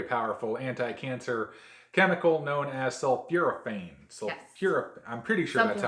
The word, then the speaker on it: sulforaphane: contains a very powerful anti-cancer chemical known as sulforaphane. I'm pretty sure Something that's how like you pronounce it.